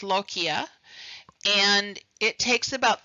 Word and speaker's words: lochia: It's pronounced lochia, and it takes about 3 to 6 weeks to completely resolve.